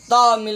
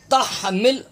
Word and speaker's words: تحمل: تا ہا زبر تح، تامل نہیں، یہاں بھی لوگ غلط تلفظ پڑھتے ہیں، یہ دائرہ دیکھ رہے ہیں آپ، اس کے اندر ہا ہے، یہ نشاندہی کی گئی، یہ غلطی کی ہے، ہا تا ہا زبر تح، تحمل تحمل، علینا عین